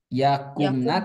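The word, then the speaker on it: يَقُمْنَ: Nah, jadi membacanya yakumna tidak panjang ya. Yakumna begitu. Yakumna.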